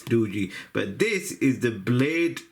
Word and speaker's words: Doogee: I'm pronouncing that right it's not doy and it's not Doogie I hope it's DOI but this is the